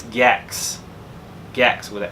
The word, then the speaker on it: Gex: It's not Gek. It's Gex.